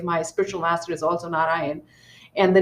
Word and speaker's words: Narayana: So it is not Narayanam, it is Na Ra Ya Na. So think there's four syllables: Na Ra Ya Na. Narayana.